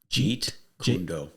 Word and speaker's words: Jeet Kune Do: Jeet Kune Do.